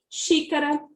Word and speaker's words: Xícara: A proparoxítona é aquela em que a antepenúltima sílaba é a mais forte. E ela deve obrigatoriamente ter ou o acento agudo ou o acento circunflexo, como mostramos aqui no exemplo. Ó. Xícara, o xi é o mais forte e o i